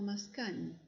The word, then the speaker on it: Mascagni: Caballería Rusticana de Mascagni, que se pronuncia algo así como Mascagni, ese es el autor.